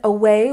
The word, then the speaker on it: away: And away, we stress the second syllable. Away, away. Very good.